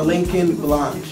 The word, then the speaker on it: Lincoln Blache: Hold on, before we start, is it Lincoln or Lincoln Blache?